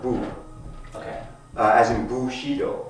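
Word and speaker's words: 武: this or in J Japan is pronounced bu okay uh as Bushido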